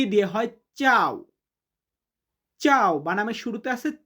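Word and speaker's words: ciao: সি but Italian উচ্চারণটা হবে চি। চি দিয়ে হয় চাও।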